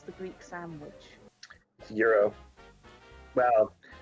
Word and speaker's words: gyro: pronounce the greek sandwich euro well it's there's more of a pronunciation to it than europe but it's closer to euro than gyro possibly want to ask